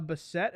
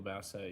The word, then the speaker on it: Bassett: um I agree uh I think Angela Bessette is that how you say her name the mom uh uh Angela Bessette Angela Bassett yes I I anyway yeah